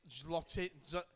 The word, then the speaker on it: Xochitl: Yeah, but to be fair, you try saying Xochitl is how you pronounce her name. Xochitl. Imagine saying that without fucking taking a breath. Is a sh sound.